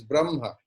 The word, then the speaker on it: Brahma: So the game is there in the prolonged pronunciation of the vowel. Brahman and Brahma are same, which is short vowel. But when at the end the vowel will be prolonged, Brahma, it is concerned with